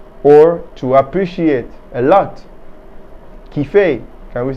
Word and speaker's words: kiffer: How do we spell it? D-A-N-S-E-R. Very good. Kiffer. Kiffer is a French slang meaning to like or to appreciate a lot. Kiffer.